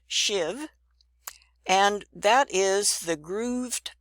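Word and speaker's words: sheave: I said shiv shiv it's spelled this way s h e a v and it's pronounced shiv and that is the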